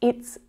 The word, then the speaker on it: it's: It's voiced, this sound. Listen out. It's. Now, because t is an unvoiced sound as well, the sound that is unvoiced follows.